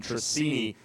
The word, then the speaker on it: Trissini: Big thanks to Jeremy Fairbairn for correcting my pronunciation of Santiago's last name. Trissini rolls off 10th.